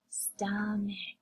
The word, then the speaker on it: stomach: Stomach, stomach. We have our CH phonogram at the end that says the k sound.